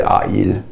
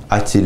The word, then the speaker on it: a-t-il: It's just to facilitate the pronunciation, so you don't say a-il. A-t-il is just easier to say.